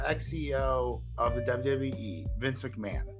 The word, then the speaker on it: McMahon: This guy's name is well, it's not that the H is silent. The H is just quick. Vince McMahon. So the H is very quick.